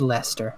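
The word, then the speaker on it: Leicester: cheese like ler cheese no it's Lester it's Lester Lester werer is like that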